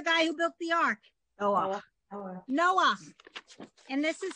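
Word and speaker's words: נח: So you pronounce the vowel and then the letter. Ah. Right. That's the guy who built the ark. Noah. Okay. So this is the only exception to pronouncing the letter and the vowel, the letter first, then the vowel. This is the only exception, and it's only at the end of a word.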